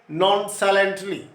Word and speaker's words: nonchalantly: Maybe, he said nonchalantly.